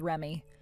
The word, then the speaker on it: Reme: She has it spelled as Reme, but you're supposed to pronounce it as Remy.